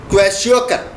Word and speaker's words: kwashiorkor: Number 12, Kwashiorkor, or you can say why K silent also you can pronounce Kwashiorkor, has symptoms.